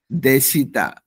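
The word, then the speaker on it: でした: তারপর ওয়াজ, ওয়ার, আমরা যে ছিল, ছিলেন, ছিলাম ইত্যাদি বলি, সেটাকে জাপানিজে দেখতে দেস্তা। হ্যাঁ, জাপানিজে উচ্চারণ হয় দেশিতা।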